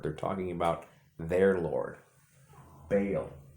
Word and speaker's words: Baal: Baal also can be pronounced Bel.